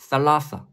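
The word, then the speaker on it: ثلاثة: 됩니다이는 두 개 3은 세 개 3 아랍어 발음으로는 라사 라사 다음은 4 4는 90도 눕힌 모습이 두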